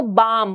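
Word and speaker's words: balm: बाम की बात करूं सो जो एल साउंड है दैट इज साइलेंट यर हम इसको बाम बोलेंगे एल यहां पर साइलेंट हो जाएगा सिमिलरली काम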